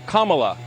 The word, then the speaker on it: Kamala: um hosts on Fox her name is pronounced comma like the punctuation mark La Kamala okay seriously I've heard